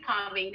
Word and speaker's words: Parveen: It's Parveen Spice Queen. Oh, I love that. My mouse mat. And my name is Parveen, and it's brilliant because it rhymes with Spice Queen.